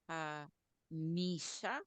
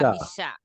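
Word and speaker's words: וַחֲמִשָּׁה: Okay, I notice a lot of my students will trip up either on the gutturals or on the reduced vowels. And here we have both of them. So I'm trying to figure out which one or both is causing the hiccup. Can you say vaha? Vaha. Good. Misha. Misha. Now put them together. Vahamisha. Vahamisha. There it is. Vahamisha. That's it.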